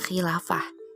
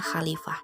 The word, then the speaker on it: Khilafah: yang anda ketahui tentang Khilafah di sini banyak nih responden yang mungkin salah baca gitu ya Khilafah dibacanya khalifah jadi jawaban mereka kurang tepat di Lava diartikan sebagai